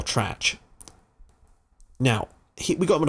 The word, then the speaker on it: Tresch: I'm pretty sure it is pronounced Tresch. Or Trach.